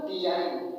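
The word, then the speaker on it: design: Silent हो रहा है, तो यन के पहले जी है ना, तो जी को हम साइलेंट कर देंगे। ठीक, जी को जब हम साइलेंट कर देंगे तो क्या होगा, इसको डिजाइन, डिजाइन में होता है रचना।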